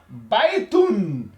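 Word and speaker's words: بيتٌ: parce qu'on a dit le tanin c'est un doublement de voyelle. Voilà donc l'exemple que nous allons voir c'est baitoun hein. Baitoun baitoun hein.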